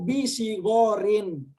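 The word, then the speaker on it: bisighorin: Cuma yang terakhir itu Pak Sumargono perhatikan ya. Atulabu laisu bisigorin. Ya, bisigorin. Dengan kasroh ya i. Kenapa? Karena ada ba di situ, huruf ba.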